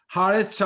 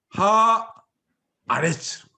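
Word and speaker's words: הָאָרֶץ: 앞에다가 HA 해가지고 붙이면 하레츠 하면 이게 다 죽어버리잖아요. 이게 다 묵음에다가 짧고 이러니까. 그래서 어떻게 되냐면 여기도 장모만 해주는 거예요. 하 아레츠. 그래서 하 아레츠 하면 구분이 되잖아요.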